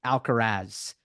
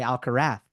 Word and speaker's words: Alcaraz: then in other parts of Spain they say alarra so I don't want to take you into meetings I've been in that revolve around pronunciations the audience such process now and go on to speak about um uh Carlos and his possibilities and other themes so yeah yeah both ways are okay um is I think